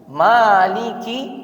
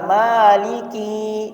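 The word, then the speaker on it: مَالِكِ: Maliki kalau dibaca maliki dipanjangi kafnya, maka ini artinya juga beda.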